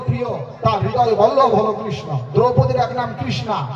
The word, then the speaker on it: কৃষ্ণ: আরে কৃষ্ণা হচ্ছে দ্রৌপদী, উচ্চারণ হবে কৃষ্ণ, মূর্ধন্য হবে।